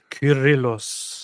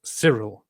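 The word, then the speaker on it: Κύριλλος: Curillos. Oh, yeah. That's a K. Curillos. Curillos. Alexandrias. So if now in the English-speaking word people pronounce it as serill because they uh pronounce the C as both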